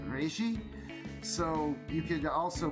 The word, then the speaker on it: Rezi: the important thing is i believe you pronounce the first name reishi so you could also